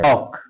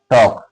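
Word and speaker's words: talk: Silent है। टॉक टी ए एल के क्या पढ़ते हैं इसको? टॉक है ना?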